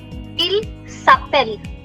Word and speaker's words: s'appelle: Il s'appelle. It stops at double L.